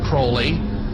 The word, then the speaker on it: Crowley: have his name pronounced crowley to rhyme with holy and the satanist today